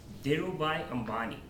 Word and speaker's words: Dhirubhai Ambani: heard about this name and the way it pronounced is dhirubhai ambani the name is the first violators duo by